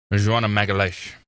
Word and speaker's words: Magalesh: Say uh say Magalesh. Am I saying it right? How do you say it? Magalash. I was Oh, Magalash. I remember she was telling me like that's what I'm saying. She's like Magalash.